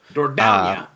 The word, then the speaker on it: Dordogne: Dordogne. Very good. We learned how to pronounce the name.